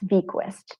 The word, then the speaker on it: Bequest: Yes, it's Bequest. I actually got that in a little bit of info and confirmation regarding the pronunciation of her name from her breeder.